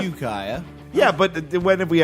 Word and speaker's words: Ukiah: I've been informed it's pronounced Ukiah. Yeah, you got some very aggressive tweets. Yeah, from people like, I that's said- where AFI is from. So. I said Ukiah.